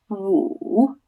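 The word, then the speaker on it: 五: And number 5 is pronounced woo, woo. So again, we don't really have a similar pronunciation. It's a bit like if you made the noise of an owl, to wit, to woo, woo, but it's really woo, woo.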